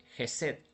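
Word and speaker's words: חסד: eh la palabra misericordia en hebreo se dice jeset que se escribe ot e s e d como aparece en la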